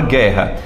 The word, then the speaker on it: guerra: Por exemplo, na palavra guerra, tu pronuncia guerra ou guerra, DJ? Guerra. Guerra. Você tá pronunciando esse U? Não.